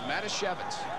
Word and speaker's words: Matoshevitz: Excuse me, I mispronounced that young man's name. I can't do that. It's Matoshevitz.